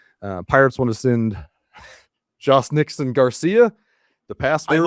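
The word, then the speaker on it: Jhostynxon: Uh Pirates want to send Jos Nixon Garcia. The pass. I looked it up. Did you you want to pronounce that for me, baby? It's Yosten Garcia. Yostinson.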